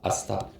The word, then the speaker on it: ASAP: 아쌉. 그죠? 앞자만 딴 거예요. as soon as possible에서 ASAP 이렇게 해서 아쌉이라고 보통 발음을 합니다.